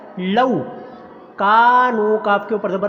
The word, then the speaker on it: لو: کرنا، انفسہم لو کانو، لو نہیں اس کو پڑھنا، لو مجہول ہو جائے گا، صحیح تلفظ کیا ہے لو، کانو کاف کے اوپر